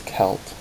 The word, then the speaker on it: Celt: this because I pronounced kelt last time and I got laughed at so it is kelt with a K not a c um but I'm not